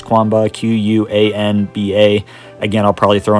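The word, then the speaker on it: Qanba: There's definitely some good ones out there, like I can't pronounce this company's name, but Quanba. I think it's Quanba, Q-U-A-N-B-A.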